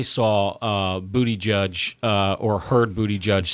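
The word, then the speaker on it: Buttigieg: butI judge or heard bootie judge say that who did that's Andrew Sullivan said wrote about how to pronounce his name bootie like he's a judge in a bootie judging competition so yet I can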